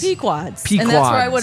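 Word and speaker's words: Pequod's: So, the the one Chris gave us was I'm not even going to try and pronounce it, but it's like puads. It's Pquads.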